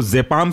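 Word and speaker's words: diazepam: mostly last जो word खत्म होता है वो जपाम से खत्म होता है लेकिन हर बार यही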